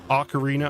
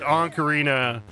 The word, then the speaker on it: Ocarina: Ocarina, I always say ank instead of Ocarina. I've always thought there was an N at the beginning of the word Ocarina. I'd always pronounced it anarina.